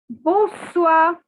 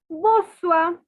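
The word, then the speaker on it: bonsoir: for good evening is boswa now take your different colored pen and please note that the n is silent r is silent see i told you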